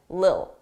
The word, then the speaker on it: little: Native speakers, we don't pronounce T's between 2 vowels. It will be either a very soft D, little, little, dull, or you just won't hear it, lil, a little, a little.